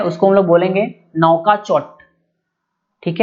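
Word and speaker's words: Nouakchott: तो मॉरिटानिया का जो कैपिटल और करेंसी है दोनों थोड़ा अजीब है प्रोनाउंसिएशन में। तो इसका जो राजधानी है उसको हम लोग बोलेंगे नौकाचोट, ठीक है, नौकाचोट।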